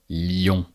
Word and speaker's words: Lyon: The city of Lyon. So li on and we bind the i sound and the on which makes ion. Lyon.